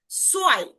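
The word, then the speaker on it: zwei: সো এটার উচ্চারণটা কিন্তু সোয়াই, সোয়াই, সোয়াই, অর্থাৎ একটু ভ থাকলেও ভটাকে আমরা পূর্ণাঙ্গ ভাবে উচ্চারণ করব না, যার কারণে আপনি সোয়াইটাই উচ্চারণ করবেন, সোয়াই। অর্থাৎ সেট ডাব্লু, অর্থাৎ সেট এবং ভে যদি দেখেন তখন তার উচ্চারণটা সো আকারে উচ্চারণ করবেন, কোনো প্রবলেম নেই, সোয়াই।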